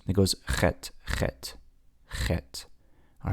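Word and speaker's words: חית: The same sound that you would make if you have a mosquito stuck in the back of your throat or you swallowed a fly. You say Chet, Chet. Okay? That's typically, we don't have an equivalent in our English alphabet, but it's like a C and a H together is the closest thing we can get to it. Even though that says Chet, it's actually Chet.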